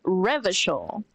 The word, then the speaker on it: Revachol: Revachol is pronounced Revachol.